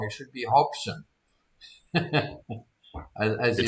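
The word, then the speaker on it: Hobbesian: They we spelled it right but we they pronounced it wrong. It should be hopshion.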